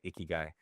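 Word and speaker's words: ikigai: Interview me to help you figure out my my icky guy. Um, and the way you spell that, I'll drop it in the show notes, but a i ki g ai.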